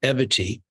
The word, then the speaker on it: Evity: that I've just started eity which sounds like equity and rhymes with longevity we are trying to